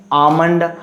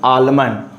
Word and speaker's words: almond: And sometimes you pronounce almond, and sometimes you pronounce almond. Both are right, you know. You can say almond also, and you can say almond also. Both, in both condition you will be right.